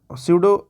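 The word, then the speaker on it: pseudo: फिर स्यूडो, हाँ ये पी से स्टार्ट होता है, हाँ पी साइलेंट होता है, स्यूडो ऐसे ही बोलते हैं, ठीक है ना।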